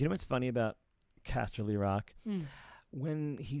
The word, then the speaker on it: Casterly: i love i love that like you just castily like like oh yeah that's sure that's why it's spelled castle like it smells stupid like that but yeah castelly rock and then yeah just spelled the same